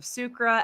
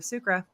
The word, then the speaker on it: Sucre: just at Art of sucra that was easy um uh also we forgot to touch on the the name how I pronounce it with the French you pronounce it Circa so I definitely gonna